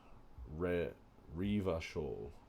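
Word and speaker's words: Revachol: let's take the stairs river coal is pronounced rare riva shawl or orange is pronounced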